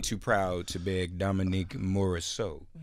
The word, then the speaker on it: Morisseau: also the playwright of Ain't Too Proud to Beg, Dominique Morisseau. Did I get it right? Yeah, you said it right.